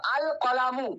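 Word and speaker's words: القلم: page দিয়ে পড়বো এখানে আচ্ছা বলতো আল কলামু এই লামটাকে কেন উচ্চারণ করে পড়ছি আল কেন পড়ছি কারণ শব্দটা কফ যে বর্ণটা রয়েছে এটা হল কমারিয়া তাইতো কারণ দেখ কফটা এখানে রয়েছে এইযে কফ এখানে রয়েছে তার জন্য আমরা নামটাকে স্পষ্ট করে পড়তে ঠিক একইভাবে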